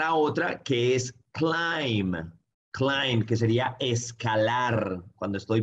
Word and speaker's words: climb: otra que es klayman climb que sería escalar cuando estoy por ejemplo escalando el everest la montaña decimos claim klayman pero no pronunciamos la b para peinarse obviamente yo